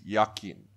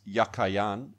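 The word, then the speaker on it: Jachin: of the two names the word jacquian in Hebrew is yakin it was probably pronounced yakayan and meant as a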